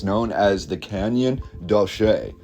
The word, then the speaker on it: Canyon de Chelly: According to the pronunciation, it's known as the Canyon De Chelly, although it is spelled a lot differently.